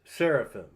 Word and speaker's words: seraphim: All these are Messiah paradigms as well as the word seraphirim that we pronounce as seraphim.